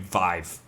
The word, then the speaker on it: Viiv: VIIV, still pronounced the same, Vive.